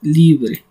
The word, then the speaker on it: librae: Y forme, pues prácticamente, bueno, aquí no es forme, estoy aquí metí una palabrita que no era, pero es librae, que en latín se pronuncia libre.